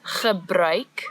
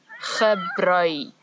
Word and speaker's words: gebruik: So the word is gebruik, the ch sound as before, and now we've added a new sound, ui, ui, gebruik.